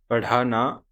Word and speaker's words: पढ़ाना: This consonant here is ढ. The closest pronunciation in English we have is D with H sound. D and H.